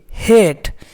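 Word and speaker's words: hate: अब देखिए हेट, तो यहाँ पे हेट में क्या क्या मिलकर बना, एच प्लस ए प्लस टी प्लस ई। तो लास्ट में ई आएगा तो उसको हम साइलेंट रखते हैं, मतलब उसका कोई साउंड नहीं होता है। तो ई एच का क्या है, आधा हा है, ठीक ना दोस्तों, आधा हा। और इसको ए पढ़ते हैं और इसको आधा टा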